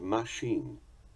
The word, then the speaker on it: machine: Take also the two words journal and machine, which English has inherited from French. We pronounce them journal and machine.